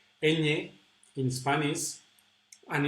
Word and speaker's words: ñ: ñ in Spanish, and it's pronounced like this: ña, ñe, ñi, ño, ñu. Actually, the position of the tongue is very similar to the position where we pronounce the double L, ja, ja. So it's like pronouncing an N, na, ne, but putting your tongue, sticking your tongue to the top, and it's a very nasal sound.